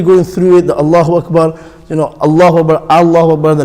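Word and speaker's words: أكبر: Allahu Akbar, some pronounce it Wakbar with a waw. Allahu Akbar, that's the correct way.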